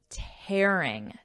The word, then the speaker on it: tearing: Now notice here my pronunciation tearing, tearing people apart.